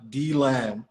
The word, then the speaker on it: DeLand: And I thought he meant like the land. And he said, no, like DeLand, Florida. And he actually pronounced it DeLand.